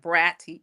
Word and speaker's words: Braddy: say it's it's bratty with two D's but pronounce it like bratty bratty the bratty little think of bratty kiddy little kid.